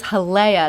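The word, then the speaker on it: Jalea: win-win for both so that is Hala that's spelled with a j j a l EA if you're looking for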